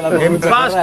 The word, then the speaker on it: impasse: Impasse che cosa vuol dire? Impasse francese si pronuncia così.